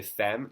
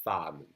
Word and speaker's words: femme: It's going to be pronounced like an A, so it's une femme. Don't try to pronounce E like most of my students do. They somehow never learned that, and so they say femme. No, it's femme. Pretend it's an A, une femme.